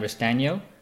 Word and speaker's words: Restagno: again today on the podcast I have Sam Reece Daniel did I pronounce that right you did an extra surprise